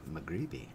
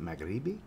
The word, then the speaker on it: Maghribi: the brand Amed Al magribi I believe is how you say that magrebi so I've got four